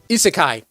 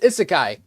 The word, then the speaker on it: isekai: Is anime isseekai. I be saying this wrong all the time. All right. Best isekai.